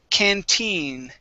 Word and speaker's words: canteen: Let's go to the word canteen. Okay, the stress is at the very end here.